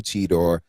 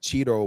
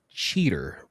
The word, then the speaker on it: Cheetor: Um, Derek, if I make may make a correction here as a new Beast Wars fan here, I believe it's pronounced cheater.